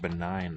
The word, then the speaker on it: benign: here's my suspicion so we get the word benign from there with a silent g b e n ign